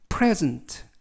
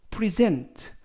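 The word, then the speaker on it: present: 자 이 때 그 명사 일대는 앞에 있는 이에 강세가 있고요 그리고 동사 일대는 뒤에 있는 이에 강세가 붙습니다 즉 선물이라는 명사로 쓰이면 발음이 프레즌트 팔레즈 라고 읽으시고 동사로 선물이나 상 이런 것들을 주다 라는 뜻일 때는 프로이센 프리 센 라고 발음 하시면 되겠습니다 자 정리해 드리면 명사로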